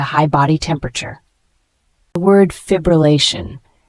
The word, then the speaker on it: fibrillation: body temperature the word fibrillation f i b r l Ln it's a noun pronounced as FIB Ruan it means an irregular